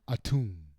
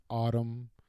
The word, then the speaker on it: Atum: They keep calling him a tomb. Like a tomb in the Egyptian desert, but that's not how you pronounce his name. It's autumn like the fall.